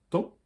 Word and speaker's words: temps: Tempus en latin, le temps, PS, on entend temps, on pourrait l'écrire T-A-N, T-E-N, on a ajouté un P et un S qui ne s'entendent pas pour redonner du prestige à la langue.